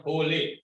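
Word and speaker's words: rolê: Itu namanya hole. Hole. Tulisannya itu gimana tuh, Pak? Role tulisan. Role sebetulnya. Bacanya hole.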